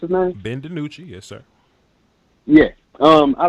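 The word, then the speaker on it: DiNucci: I like Ben the nutrient is that you pronounce it nice Ben DiMucci yes sir yes I like him just because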